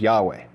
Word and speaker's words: Yahweh: Ay and it's after the I am that comes Yad vave which we pronounce Yahweh.